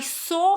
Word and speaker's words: saw: But in English, we don't pronounce this w here, so it's going to be saw.